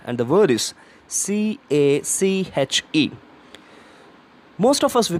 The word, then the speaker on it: cache: our hand snuff right and the word is C a CH e of ass we pronounce this word as cake it is not an eatable item so it's